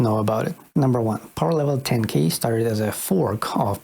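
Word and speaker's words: Powerlevel10k: level 10K number two it's pronounced power level 10K over power level 10 000 or p10k or P10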